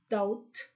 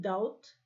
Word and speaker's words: doubt: word for example double doubt dublin in doubt we don't pronounce the letter b now be careful while